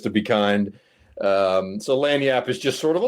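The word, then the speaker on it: lagniappe: It's pronounced lanyap.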